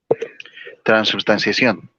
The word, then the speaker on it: transubstanciación: ¿Cuál es la manera correcta? ¿Transgustación o transustanciación? Transubstanciación.